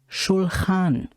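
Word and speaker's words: שולחן: here is the word the word trohan starts with the letter shin with the dage on the top right of it therefore it makes the sound of the syllable s h shulhan the word sulhan means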